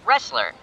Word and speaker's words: wrestler: It sounds like the letter R. The word has the letter R, but it has a silent letter before it.